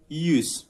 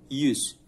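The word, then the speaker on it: yüz: 100 itu yus, u-nya pakai titik 2, yus.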